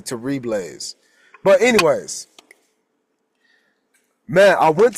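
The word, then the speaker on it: Terrible's: It's spelled terrible, but I think it's actually Terribles.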